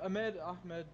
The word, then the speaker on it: Ahmed: All right, we're here with Ahmed. That is how you pronounce it, right? Yeah, Ahmed, it doesn't matter.